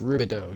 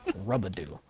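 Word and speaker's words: Rubedo: there rudian no it's rubido you know like the ruby dude like like the the leather in this game that you can get for medium armor at cp 160 it's that stuff it's pronounced just like that and uh i once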